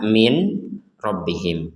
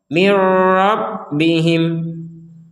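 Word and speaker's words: مِنْ رَبِّهِمْ: dibacanya dengan jelas kan sekarang dibacanya nun sukun dimasukkan ke ro sehingga tidak lagi dibaca Min tapi dibaca Mir Mir karena huruf nunnya masuk ke huruf ro Mir rabbihim ada satu pertanyaan misalkan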